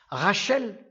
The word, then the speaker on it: Rachel: Rachel, Rash, au lieu de dire Ras, ils disent Rash. Le S, ils le prononcent en Che.